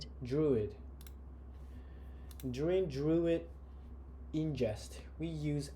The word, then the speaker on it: Druid: distinct counts estimates dream am I pronouncing it right even druid drude or druid druid druid During druid ingest, we